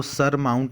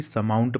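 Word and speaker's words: surmount: देखिए, यहाँ पर आर साइलेंट है, SUR। देखिए, जब भी ना आर आता है तो उसके पहले अगर कोई वॉवेल है, मतलब A, E, I, O, U, कोई वॉवेल रहता है, तो ये आर को पढ़ते नहीं है, मतलब साइलेंट हो जाता है। समझ में है? तो इसको सर माउंट नहीं बल्कि समाउंट पढ़ेंगे।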